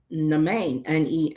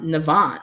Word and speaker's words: Navan: that I was learning, I thought the name was Nain. Nean M, but it's uh Navan. I'm like, yeah, N. It's Nan. And I'm like, oh my goodness, that's how you pronounce that?